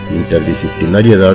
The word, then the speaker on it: interdisciplinariedad: En el caso de interdisciplinariedad, la sílaba tónica es la última, es una palabra aguda.